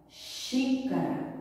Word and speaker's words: Xícara: Xícara. Vejo que a sílaba mais forte é o xi. E o som é aberto ou fechado? Xícara. Vejo que o som é aberto. Então, usarei o acento agudo.